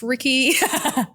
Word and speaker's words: Ricci: I feel like I miss Jessica Ricci. Jessica Ricci. It's Ricky. Everybody says that, but like every time you slide into my DMs and tell me that I'm saying Jess's name wrong, cheers for the engagement.